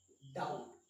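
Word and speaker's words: doubt: B silent होगा, और टी से पहले जब भी बी का यूज करेंगे तब भी वहां पे क्या होगा, बी साइलेंट होगा।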